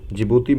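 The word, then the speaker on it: Djibouti: जिबूती में D silent होता है, ठीक है।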